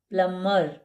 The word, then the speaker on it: plumber: यानी कि एम के बाद जब बी आता है तो वह साइलेंट होता है। जैसे कि यह पढ़ा जाएगा थंब। यह पढ़ा जाएगा क्लाइम। यह पढ़ा जाएगा लम। यह पढ़ा जाएगा बम। यह पढ़ा जाएगा प्लमर। बी साइलेंट है।